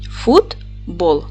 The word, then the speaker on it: футбол: а тепер Давайте перевіримо поділимо слово на склади футбол наголос падає на другий склад ф твердий приголосний у